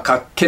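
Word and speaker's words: 脚気: 書いて、まあ脚気と読みますけれど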